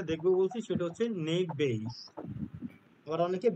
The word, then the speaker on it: Bayes: আজকে আমরা যেটা দেখবো বলছি সেটা হচ্ছে নেক বেইস আবার অনেকে বেইস বলে এটা কিন্তু বাইস উচ্চারণটা হয় কারণ বি এ ওয়াই ই এস